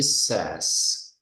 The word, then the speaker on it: says: Então, em vez de say, é says. Says.